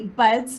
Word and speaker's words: Budz: so I brought the incredible Kirby buds do I I saying it right sweetheart buds b u d that sure is it yeah awesome um to